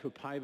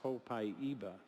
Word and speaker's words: Copaiba: Somebody reminded me that you said that Copaiba is supposed to be pronounced Copaiba.